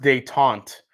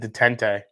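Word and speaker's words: détente: oh jesus oh date it's pronounced de taunt i totally butchered that i said detente oh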